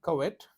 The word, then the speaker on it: covet: It is not covet, it is, but he was deeply wrong to covet. The pronunciation of this word is covet.